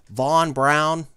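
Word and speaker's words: Wernher von Braun: the pronunciation right like if you were going to say his name with a German accent it's let stop me if I'm wrong it's Verner von braun but it's but here it's von braun or before von braun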